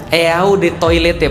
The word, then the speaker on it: Eau de Toilette: Eau de Toilette, pernah lihat? Eau de Toilette artinya adalah eau de toilet bacanya.